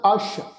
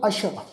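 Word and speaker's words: ਅਸ਼: हुण इत्थे ख्याल रखो ये जिहड़ा शब्द है जी ऐड़ा ससा, ससे पैर च औंकड़ लगी हुई है, इसका पाठ उच्चारण करांगे अश, ससे दे पैर विच बिंदी लगा के, क्योंकि असल जिहड़ा शब्द आ वो जी अशव। अशव शब्द का अर्थ हुंदा जी घोड़ा। ठीक है ना जी। इत्थे जिहड़ा वा ये शब्द ससे पैर बिंदी नाल उच्चारण होएगा अश।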